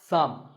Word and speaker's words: thumb: the way what's this this is my thumb it's not my thumb but it's pronounced thumb and what about this